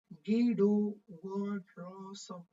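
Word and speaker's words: Guido van Rossum: کې دا د نوم دا رقم د ګوره تلفظ کېږي ګیډو وانرسم ګیډو وانرسم دا د دې د نوم تلفظ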